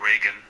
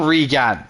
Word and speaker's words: Reagan: To pronounce it correctly, emphasize the first syllable and use a soft g sound at the end like hello Reagan. Goodbye Reagan.